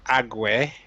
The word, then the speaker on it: Agwe: Okay, the boat of Agwe. That's how you pronounce it.